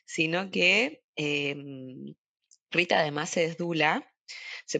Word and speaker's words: doula: Pero hoy no estamos, en principio, para hablar de ese tema, sino que Rita además es dula. Se pronuncia así, ¿no? Rita, arranquemos por el principio. Sí, doula.